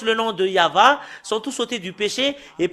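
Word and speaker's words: יהוה: C'est le livre de Torah qui stipule bien que c'est Yahva qu'on le prononce, et c'est avec cela qu'on le prononce au ciel des cieux, Yahva. Et tous qui prononcent le nom de Yahva sont tous ôtés du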